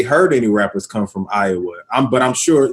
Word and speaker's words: Iowa: So Des Moines, the S is silent. Yeah, Des Moines, Iowa, man.